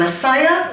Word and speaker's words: Massiah: You know, 3 syllables there. And Massiah, you got the 6.